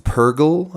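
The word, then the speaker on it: purrgil: I like the space whales, the Purgle, I think is how it's said.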